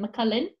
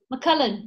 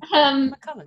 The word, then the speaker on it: McCullen: McCullen? No. McCullen. Yes. Is it C-U-L-L? Yeah. McCullen.